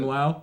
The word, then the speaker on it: Plümlaut: Plümlaut, like umlaut with a PL.